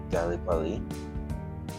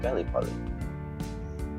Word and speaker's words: Gallipoli: Again, I was not born in that year, so I don't know how to pronounce that. Fought bravely halfway across the world in places like Gallipoli. Yes, not Gallipoli.